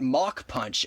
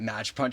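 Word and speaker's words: Mach Punch: So, I'm just going to uh pronunciation police be like match is actually pronounced mock punch.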